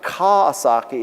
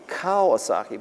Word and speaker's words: Kawasaki: And it's because, my name is not Kawasaki, it's Kawasaki. But anyway, so what we have here is we have grabbed a graphic from the source.